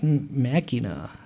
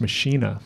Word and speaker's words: Machina: Okay, the album after that is Machina. And I think you're right. That's the correct pronunciation of that word, but I've always heard Billy refer to that album as Machina.